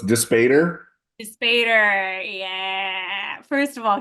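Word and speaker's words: Dispater: My personal favorite was how did we say we were going to pronounce it, Matt? So it's Despater.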